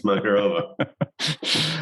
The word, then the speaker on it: Makarova: It's a rhyme with macaroni and Macarena. It's Makarova.